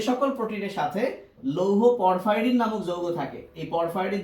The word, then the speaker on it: পরফাইরিন: Video দিয়েছি, তখন তোমরা পরফাইরিন বিষয়টা বুঝতে পারবা। আর হাসান স্যারের বইয়ে পরফাইরিন না দিয়ে প্রোফাইরিন দিচ্ছে, যেটা ভুল, এটার উচ্চারণ কিন্তু পরফাইরিন।